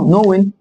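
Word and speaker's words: known: طيب دي زي دي، بس مثلا نحط لها التصريف الثالث مثلا من كلمه نوين. نوين نفس القصه، الكي جه بعدها ان يبقى الكي مش هيتنطق، يبقى اقول نوين. هنا الكي جه بعده ان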